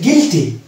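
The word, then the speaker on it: guilty: এর উচ্চারণ আসছে না, ওই জন্য এই শব্দটির উচ্চারণ হচ্ছে গিটার। নেক্সট ওয়ার্ড হচ্ছে গিলটি। গিলটি।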